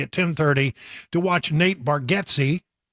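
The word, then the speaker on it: Bargatze: 10:30 to watch Nate baretti that's that's the correct way to say it baretti apparently he's been saying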